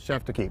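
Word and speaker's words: chef d'équipe: word for for that that i can't even pronounce can you share that with chef tequila it's called chef to keep yeah what are you gonna attempt that so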